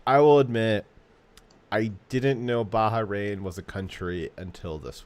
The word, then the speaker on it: Bahrain: uh so it's a it's a bahrain it's not baja rain um not that important